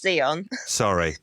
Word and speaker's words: Zion: Well, firstly, it's pronounced Zion. Sorry. Sorry. Everyone gets it wrong.